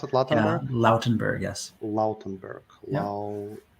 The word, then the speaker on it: Lautenberg: Lautenberg, is that how you pronounce it? Lautenberg?